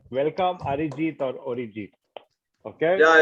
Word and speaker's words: Arijit: So please put your hands together to welcome Arijit. Let me get that right. Welcome Arijit or Arijit. Okay. Yeah, it's Audiojit. It's what? It's Audiojit. It's Arijit. Okay, I got the pronunciation right.